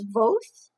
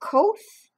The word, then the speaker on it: Kvothe: So this is about a man named, I don't know how to pronounce his name, whether it's Voth or Koth. It's Kvothe.